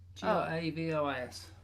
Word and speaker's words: Gravois: So, how do you spell that? G-R... AVOIS. No, OIS. Really? Gravos. That's correct. Which is Grabois. Yes. Yeah, it's in chat. Gravos.